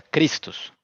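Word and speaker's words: Χριστός: griego christos o sea esto se pronuncia cristos la letra si se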